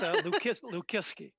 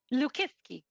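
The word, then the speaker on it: Lukiwski: name it's a tough let's pronounce it it's l liski liski okay is that good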